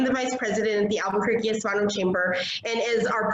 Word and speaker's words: Albuquerque: is the word that I chop up, the Albuquerque Hispano Chamber of Commerce. Her topic today is planning, marketing, and networking. Shannon Jacks, are you out there, girl? I am, and you actually got Albuquerque right, but the last name is Hawkes.